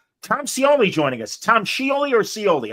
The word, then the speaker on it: Scioli: Uh. Yeah. So I the I is silent. That's just like my eye and my name is Silent, right?